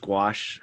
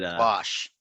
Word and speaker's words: gouache: It's pronounced gouache. I'm sure it's shoot, probably pronounced all sorts of ways, but wash.